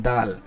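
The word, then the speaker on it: دال: দাল দা ঠিক আছে এটার উচ্চারণের মাখরাজটা বলা হচ্ছে জিহ্বার আগাকে সামনের উপরের দুই দাঁতের গোড়ার সঙ্গে লাগায় দুই দাঁতের গোড়ার সঙ্গে লাগায় উচ্চারণ হয় সেটা হল দাল তাহলে তাটাও যেমন দুই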